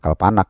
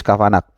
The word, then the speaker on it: Kavanagh: Bacanya gimana nih? Bukan Kalpanak ya. Chris Kavanagh.